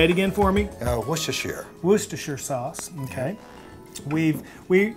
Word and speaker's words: Worcestershire: how to say say it again for me worcestershire worcestershire sauce okay we've we also talked about